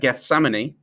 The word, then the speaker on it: Gethsemane: Can you pronounce that? Gethsemane.